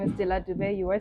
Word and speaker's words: Delah Dube: My name is Delah Dube.